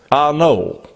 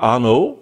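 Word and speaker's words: Arnault: a guy called Bernard Arno uh spelled a r n a u l t which I guess you'd pronounce it like the Renault modar ano I guess it would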